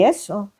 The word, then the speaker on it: gesso: So first I say yes, but I need to use the gesso (pronounced jesso) or the gesso.